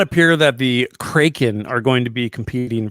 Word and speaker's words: Kraken: I've always heard it pronounced Kraken. The Kraken at the Crake House. Kraken. Like a crack house.